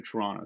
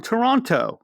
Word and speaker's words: Toronto: like oh you're from toronto oh my gosh very few people pronounce the last t in conversation right i think all right